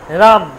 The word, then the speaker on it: রাম: যেমন আমি বলি আম, আম বলি বাংলায়, কিন্তু আম তো নয়, রাম, রাম বলি বাংলায়, রাম, রাম তো নয়, হবে রামা।